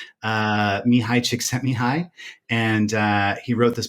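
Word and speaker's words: Csikszentmihalyi: a hungarian born psychologist with a hard to pronounce name uh mihai chick sent me high and uh he wrote this book about flow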